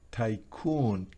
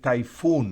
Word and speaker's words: tycoon: O el siguiente es tycoon, tycoon. No es typhoon, no es typhoon, que significa tifón. Aquí es tycoon, que significa un magnate.